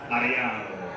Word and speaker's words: Ariano: Can you guys roll your R's here? Ariano. You gotta do it.